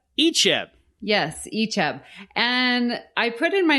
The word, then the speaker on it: Icheb: Icheb. Icheb. Yes, Icheb.